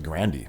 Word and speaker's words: Grande: not know we all did but it's actually grandi as she said herself so now I get